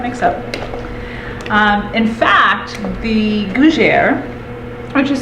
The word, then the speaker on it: gougères: In fact, the Gougères, which is spelled G-O-U-G-E-R-E-S, has a festival every year in celebration of it, and it happens the third weekend of May.